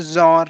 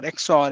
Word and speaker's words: XOR: these two things we'll have a zor or exor in in between okay this is how you say that okay so this is